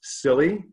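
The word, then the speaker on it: Cilley: The member from Maine, his name was spelled C-I-L-L-E-Y, which I think is pronounced Silly, not a great name for a politician.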